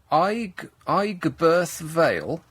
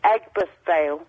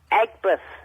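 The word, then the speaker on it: Aigburth Vale: The Meadowlands close to I I veil. A I Nick, huh? It's pronounced Eggbirth Veil.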